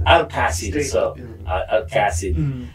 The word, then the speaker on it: Alcasid: How do you pronounce it properly ba? Alcacid. Alcacid.